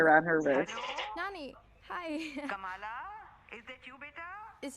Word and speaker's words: Kamala: My name's pronounced Kamala.